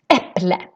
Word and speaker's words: äpple: Normally, the stress in Swedish is in the beginning of the word. Let's see, we have, for example, äpple, äpple.